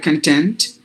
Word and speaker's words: content: us would say like content but this word is actually divided into two syllables so if you stress at the beginning then it is a noun meaning it is um